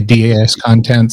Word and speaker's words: DAS Content: So that is, that's what I call my company that nobody knows how to say the name. I say DAS Content. Some people say DAS Content Media. And it's a play on discontent.